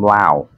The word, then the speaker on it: Lao: like the The Village she was actually from Lao many people pronounce it l but pronounced it la la